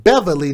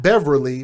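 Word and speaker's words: Bevily: t apostrophe k-i-a takia last name beverly not beverly but b-e-v-i-l-y who's 28 years old we're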